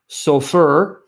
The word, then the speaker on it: Sofer: If you take the Jewish tradition that says a group of Jewish scribes called the Safarim, Sofer or Sofer, Anglo-Saxon pronunciation, Sofer, singular, or Safarim, plural. If you take the Jewish translation,